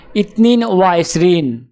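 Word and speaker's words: اثنان وعشرون: আরবি ক্রমিক সংখ্যা 22 দেখতে এরকম, উচ্চারণ হবে ইতনিন ওয়া ইসরিন।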